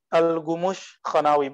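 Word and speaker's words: Gümüşhanevi: Alghumus tulisannya ke kaf tapi bacanya gu algumus khanawi. Bahasa Turki Persia Turki campur Persia Turki.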